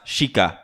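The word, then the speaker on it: Sica: Legend has it that the Native Americans named this area Sika, pronounced Shika. Oh, I pronounced it wrong.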